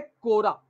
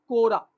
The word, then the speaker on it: Quora: अगर आप अप्लाई करने जाओ, 16 मई आज हुआ है, 13 दिन है आपके पास अप्लाई करने के लिए।